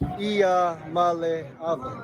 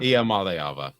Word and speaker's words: Iamaleava: I just pronounce it like this. Iamaleava. Iamaleava. I got it. Iamaleava. And then there's a Tungavailoa guy. No. Iamaleava.